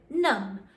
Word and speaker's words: numb: has the silent B in, like thumb or numb.